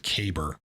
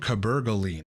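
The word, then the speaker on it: cabergoline: from whatever channel that is that calls it cber the drug is called cabaline that's how you pronounce it as well not cab cabol line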